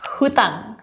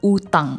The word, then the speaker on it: utang: Kata yang pertama adalah yang pertama hutang atau utang hutang. Betul enggak? Bukan. Di KBBI yang benar itu adalah utang. Enggak pakai H.